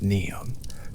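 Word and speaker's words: Niamh: The name is pronounced neon. The single syllable long and open.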